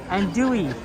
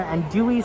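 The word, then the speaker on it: andouille: Okay, well, we will try to remember. And dewy sausage. The L is silent.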